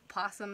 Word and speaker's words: opossum: say it but the who thought there would be like a silent Oh see here's the problem